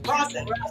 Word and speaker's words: rosin: rosin.